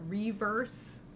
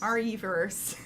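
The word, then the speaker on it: Re:Verse: and Village we've got reverse wait no it's our e-verse our e-verse is how we're supposed to pronounce it uh that's gonna finally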